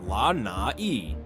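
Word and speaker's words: Lānaʻi: 98% of Lai, pronounced La Na, and his weekends there reportedly involve everything from sailing to overseeing his private hydroponic farms.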